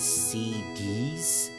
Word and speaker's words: SeeD: So, am I the only one that pronounce it as actual seeds? Cuz I've heard some people pronounce it as CDs just because of the fact that this S and the D is capitalized.